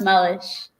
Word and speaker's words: Meluish: Sorry, it's pronounced Mellish. No, I'm just going to go with. My dog corrected you. Thank you. and I am not qualified to pronounce last names today. No, it confuses everybody because it's the stupid U.